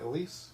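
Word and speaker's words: Elyse: I'm saying it right, Elise?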